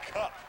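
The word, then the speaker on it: Kopf: Well, Logan Cup, spelled K-O-P-F, but pronounced Cup.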